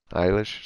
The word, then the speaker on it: Eilish: Eilish.